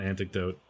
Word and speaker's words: anecdote: this, but a fun anecdote. The coach of the Toronto Maple. No, it's definitely pronounced anecdote. Yes, I changed my pronunciation to the correct one after I realized my mistake.